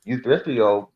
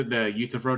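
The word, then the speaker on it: Euthyphro: problems like the you youfo problem I can't pronounce that right but basic The utro Dilemma yeah yeah yeah that's that's how you pronounce it anyway uh you get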